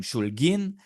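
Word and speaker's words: Шульгин: A part of the family became Russian nationalists, hence the Russian name Shul'gin.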